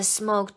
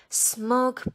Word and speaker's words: smoke: The smoke turned into a huge face. Help! Cried the fisherman. A genie. Wow. So what's in the bottle? Suddenly, 突然之间怎么样？Smoke poured out.